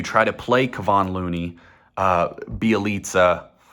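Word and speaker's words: Bjelica: Or do you try to play Kevon Looney, Bielitsa, which is it's spelled Bajelica, which is what I always used to call him, but I recently found out it's Bielitsa.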